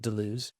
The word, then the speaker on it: Deleuze: Well, the first thing I would say is that I usually used to pronounce it Deleuze, but then there's all these Hocknase people, as they say in German, high nose people who are like, it's Deleuze.